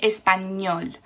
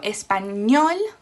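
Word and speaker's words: español: last syllable for example the word spanish is espanol that finishes in a consonant which is not n or s it finishes with an l so espanol the stress is on the last syllable okay if you do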